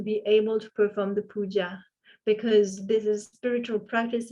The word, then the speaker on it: puja: for sure you know, the word puja or puja. Tibetans pronounce it puja.